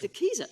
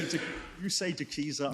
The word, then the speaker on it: De Keyser: De Keyser. De Keyser. I will call it De Keyser. No, you needn't. I mean, I may be wrong. I'm often wrong. You say De Keyser, I say De Keyser.